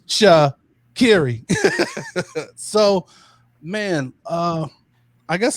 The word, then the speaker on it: Sha'Carri: she's come on and she actually had a little a little clip where she uh taught us all how to say her name it's cha kerry so man uh i